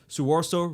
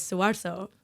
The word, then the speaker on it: Soewarso: And my Indonesian last name is Soewarso. Soewarso. Yeah, but I have been saying it Soewarso because that's how you'd pronounce it in Spanish.